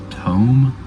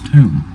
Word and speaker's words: tomb: Some words look like they should rhyme, but they don't.